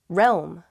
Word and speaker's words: realm: with this important deal realm realm i see why this one's hard it's that rome part little realm it's a weird word isn't it it's used to talk